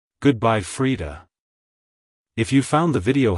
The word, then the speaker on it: Frida: peace it's pronounced as Freda Freda Freda to pronounce it correctly emphasize the e e sound in the first syllable and the aound sound in the second syllable like hello Freda goodbye Freda if you found the